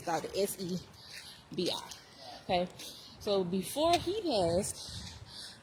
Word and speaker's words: Sebi: Sadie.